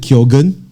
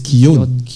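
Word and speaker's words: Keoghan: basil that night we're wondering how do you pronounce his last name and then we were like is it is it kyogen it's not it's kion apparently i want to find ic right so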